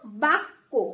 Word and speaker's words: বাক্য: বা বয় আ আকার, বয় আকারে বা, এবং কয় জফলা বা কো, কয় জফলা দিলে কো, মানে কটা দুবার উচ্চারণ হবে এমন ভাবে উচ্চারণ করতে হবে আমাদের, তাহলে বা কো।